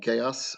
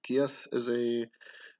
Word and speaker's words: geas: So now you can take Geas or Geas is actually, I think, technically how it's pronounced, um, as its own